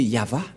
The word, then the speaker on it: Yahvah: Mais la vraie lecture de ce terme, c'est Yahva.